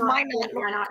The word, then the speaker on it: Minot: Minot. It's pronounced Minot.